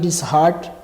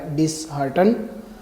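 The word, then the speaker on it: dishearten: اور دوسرا ہمارا تھا جی ڈس ہارٹ، جو بالکل غلط ہے. اس کا جو صحیح ہے وہ ہے ڈس ہارٹن.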